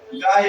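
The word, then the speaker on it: guile: यहां पर क्या करेंगे यू का उच्चारण नहीं करेंगे तो इसको पढ़ेंगे गायल क्या पढ़ेंगे गायल गायल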